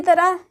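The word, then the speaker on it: ت: बोला जाता है इसी तरह यह दो बिंदु है दो नुक्ता इसे ते बोलते हैं ते बोलते हैं इसका हिंदी उच्चारण त है यह ट है टे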